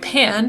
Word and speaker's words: pain: It's pronounced more like pan, but written pain.